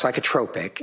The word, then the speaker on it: psychotropic: It's pronounced psychotropic.